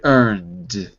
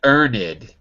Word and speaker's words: earned: repeat after me hard earned hard earned not that's right notice it's not earned it's never there we never add an extra syllable except if it ends